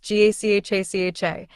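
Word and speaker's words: Gacaca: In 2001, the government began implementing a participatory justice system known as Gakaka, pronounced GACHACHA, in order to address the enormous backlog of cases.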